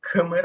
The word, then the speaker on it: Khmer: even the king sometimes are called kumar i don't know how to pronounce the word khmer so i'm going with that man absolutely right that uh you got it perfectly correct these are the people